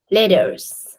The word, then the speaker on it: letters: as subtle sound letters letters yeah soft T it's not actually hard T like letters just letters